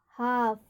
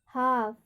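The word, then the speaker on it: half: रहा है, एल एफ, तो यहाँ पर एल का उच्चारण नहीं होगा, तो क्या पढ़ेंगे इसको, हाफ, हाफ।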